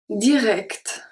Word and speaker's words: direct: When we have CT at the end of word, it's pronounced kt, kt, kt. We can find it in English as well, so technically you already know it.